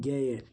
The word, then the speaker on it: ज्ञ: हिंदी में ग का उच्चारण ज्ञ अप उच्चारण उच्चारण करें तो इसका उच्चारण होगा ज्ञा ये ज नहीं होगा